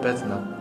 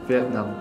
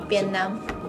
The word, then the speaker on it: Việt Nam: I love Bê-thư-nam! Phải phát âm cho đúng chứ! Việt Nam, Việt Nam!